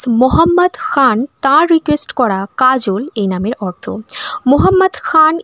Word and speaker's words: Kajol: ভাবে ইউজ করতে পারেন প্রথমটা হচ্ছে কে এ জে ও এল কাজল অর্থাৎ যেভাবে আমরা বাংলায় উচ্চারণ করি সেভাবেই এবং দ্বিতীয়টি হচ্ছে কে এ জে এ এল কাজল এটিও ইউজ করা হয়ে থাকে স্পেলিং এর